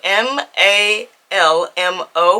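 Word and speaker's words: Malmö: am heading to Sweden like I said said it's spelled m a l m o with the two dots on the top so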